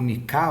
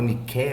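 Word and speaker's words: Nika: Revolta de Nica, ou Nicá, ou Niké, ou Nique, né? Não tem importância. Depende da pronúncia.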